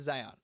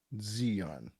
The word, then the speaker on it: Zeon: defense force and the principality of zion zeon zeon my apologies i watched the sub